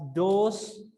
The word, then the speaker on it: dose: ये थोड़ा सा प्रोनाउंसिएशन में फर्क है, DOSE डोस और DOZE डोज, ठीक है। इसमें थोड़ा Z पे स्ट्रेस ज्यादा है, डोज और डोस, ठीक है।